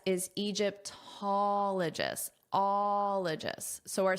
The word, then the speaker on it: Egyptologist: And this is important because that pattern applies where the syllable stress is on the first O before ologist, allist because it applies to all the words.